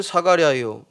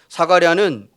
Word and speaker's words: 사가랴: 그러니까 히브리어로의 이름이 스가랴고 헬라어의 발음의 표현의 이름이 사가랴입니다. 같은 이름이라는 거죠. 사가랴는 제사장의 아비야의 반열의 가문이었고 엘리사벳은 아론 가문의 자손입니다.